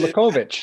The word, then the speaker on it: Kolakovic: Let's talk about Father Tomislav, I pronounce this correct, Kolakovic, and the vision. Kolakovic, yeah, you almost got it, yeah.